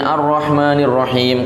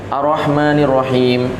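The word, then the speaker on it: الرَّحْمٰنِ الرَّحِيْمِ: Kemudian Ar-Rahmanir-Rahim. Kadang orang bacanya Ar-Rahmanir-Rahim, Ar-Rahmanir-Rahim. Nah, ini berarti tasdidnya tidak disebutkan.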